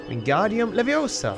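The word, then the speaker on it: Wingardium Leviosa: fair I never thought about that wingardium leosa wingardium levosa hey at least he pronounces it properly in this game they've took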